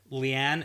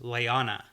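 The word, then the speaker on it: Leane: fun fact here sure Leigh Ann actually is pronounced Liana oh yeah in the audio books and in the glossary definition yeah it's Liana Wow that is dumb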